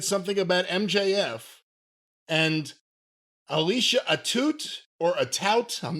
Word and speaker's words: Atout: Well, but look at how it's spelled. A-T-O-U-T, right? Atout. Atout. No, okay. How do you say the word coupe, like a 4-door coupe or whatever? How do you say like about? A Chevy coupe. How do you say about? How do you spell about? A boot. That's a boot.